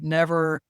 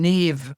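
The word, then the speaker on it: Niamh: fact that the name Neve has an MH in it. And they say, well, how can MH sound like a V?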